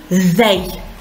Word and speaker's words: they: И они, they. Очень важно произносить этот звук th. Правильно, его дают нам две буквы T и H. Как их произносим? Язык между зубами распластан. Пропускаем воздух и подаем голос. Th.